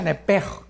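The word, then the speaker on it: נפש: En el hebreo, apúntalo, nepesh. Se pronuncia nepej, porque la CH en hebreo es j, nepej.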